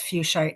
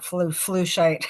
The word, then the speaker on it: fuchsite: She says fuchsite, not flushite, although that's not how I pronounce it.